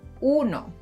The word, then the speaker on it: uno: Notice that I don’t say u in uno. One.